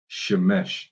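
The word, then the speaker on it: שמש: It's Shemesh. See, they sometimes in the blue letter they'll have their word completely butchered, but for sun it's pretty close, and it's Shamash. Now, the Lord is the Spirit.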